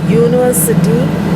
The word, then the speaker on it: university: In front of university, we'll use a. Though it starts with the vowel, it sounds y.